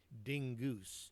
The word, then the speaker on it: Dingus: She pronounced it dingoose, as if it were more hoity-toity that way.